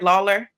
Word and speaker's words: Lawler: by another special guest Lawler am i pronouncing it right Lawler that's correct okay I just want to make